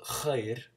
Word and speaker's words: خير: So khair, you have to do it from the back of your throat. It's similar to German a little bit. For example, like sicher, like Sicherheit, or something like that, Möglichkeit. But it's deeper, so it's like al khair.